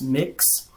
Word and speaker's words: Mx: know someone's gender like MX it's pronounced mix these are things that